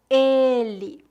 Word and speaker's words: ele: podem ajudá-lo primeira dica os pronomes femininos são pronunciados com e aberto e os pronomes masculinos com e fechado por exemplo ele pronúncia fechada ela pronúncia aberta este esta esse essa